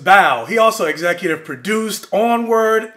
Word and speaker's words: Bao: which i really enjoyed called baobao i think that's how you say it hold up no it's just bao he also executive produced